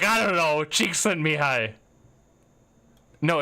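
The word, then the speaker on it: Csikszentmihalyi: the zone so and this name is pronounced cheek sent me hi I found that out yesterday cheek sent to me hi wouldn't you like that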